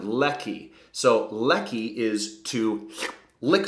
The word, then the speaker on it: leki: problems with pronunciation sometimes you got to make all of your eyes into a long e sound leaky and your e into an eh sound Ley so Ley is to